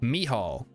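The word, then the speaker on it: Mícheál: Mihal is the Irish spelling of the same name pronounced Mihal. Or, wait, with a rough H like the H, and so Michal.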